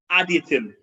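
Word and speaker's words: Adytum: Builders of Additum. It's spelled A-D-Y-T-U-M.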